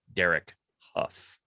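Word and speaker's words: Derek Hough: old when i learned how to pronounce correctly pronounced derek huff i thought it was how it is not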